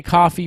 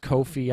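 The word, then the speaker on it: Ko-fi: This is a coffee page. It's pronounced Kofi.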